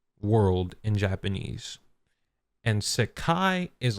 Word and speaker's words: Sekai: Now, um I haven't seen the scans for myself, but everybody has said it's Sakai. It's S E K AI. Um it's three syllables in Japanese.